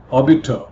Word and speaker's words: obiter: Obiter, here in terms of pronunciation, R is silent, here refers to something said in passing.